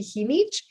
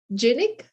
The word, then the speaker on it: Jinich: be there to see how someone had pronounced my name so right you know because usually usually people in the usa he needs as genic um and it was